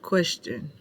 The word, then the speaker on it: question: Then we have question, Q-U-E-S-T-I-O-N. We have qu, spelled Q-U, S spelled E-S, and then shun, spelled S-T-I-O-N.